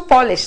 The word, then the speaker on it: Polish: it is a shoe polish that we have again a noun form but then if we say polish we are talking about a person from Poland right so accent is extremely